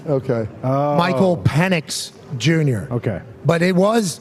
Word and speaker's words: Penix: I thought we were pronouncing it wrong. All right. Phoenix, Penix. I mean. No, I think it was official. I think it was officially Penix.